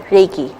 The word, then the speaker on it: Reiki: yes am i am i saying it right reiki correct okay so back to the story that